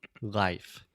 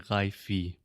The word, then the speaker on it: life: it word by word life a lot of Brazilians would say haifi because we write it with an E and A lot